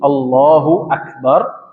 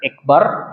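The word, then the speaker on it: الله أكبر: takbir, takbir zahir dan takbir zahir ini mengucapkan Allahu Akbar. Ya. Allahu Akbar ada namatnya di situ, kita pernah bahas di tafsir surah Al-Fatihah ya. Allah tebal tafkhim, Allahu Akbar bukan ekbar gitu kan.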